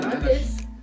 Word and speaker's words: jaundice: I know It rhymes with jaundice. It rhymes with jaundice, that's good.